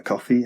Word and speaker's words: Ko-fi: I've also set up a Ko-fi account. That's how you pronounce it.